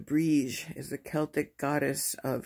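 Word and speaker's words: Brigid: i mean february 1st bridgette pronounced brige is the celtic goddess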